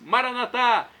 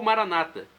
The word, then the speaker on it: Maranata: Maranatá, vinde Senhor Jesus. Ou Maranata, com a tônica na penúltima sílaba, como dizem nossos irmãos separados, os evangélicos ou protestantes.